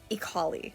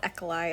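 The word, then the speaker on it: Ekali: don't think tosh here it's ikali not ekolai or equally i don't know what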